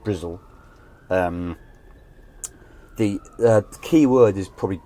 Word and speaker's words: Bristol: doing all right so bristol slang which itself is normally pronounced brizl the key word is